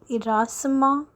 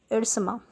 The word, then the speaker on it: Ersama: Class, there is one thing that the place name Irsama is pronounced in various manner. Like it can be Irasama, it can be Irsama, but according to our